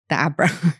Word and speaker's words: abra: So that's the Abra. Is that how you say it? It is how you say it, but many people will think abracadabra.